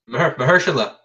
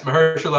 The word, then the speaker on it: Mahershala: Mahershala. I said it right. Is it? Yes, Mahershala Ali.